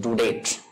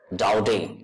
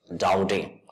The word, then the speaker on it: Daudet: the word is pronounced doubting it is a French title and it is pronounced as doubting so we will pronounce it orphans Dowdy so orphans Dowdy has